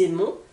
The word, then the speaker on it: aimons: le N nous aimons je vous rappelle le S avec les voyelles se prononcent nous aimons vous aimez la même